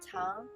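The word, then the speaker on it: 糖: Sugar is pronounced Tang in Chinese, the same pronunciation with Tang Dynasty.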